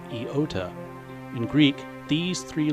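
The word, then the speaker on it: iota: there is another letter an i which is pronounced eota in Greek these three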